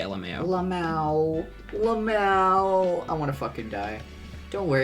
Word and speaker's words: lmao: i'm so pissed uh anyone who says la mao instant lack of respect for you um i've said lmao a few times but i don't pronounce it la mao that sounds horrible i say lmao i want to [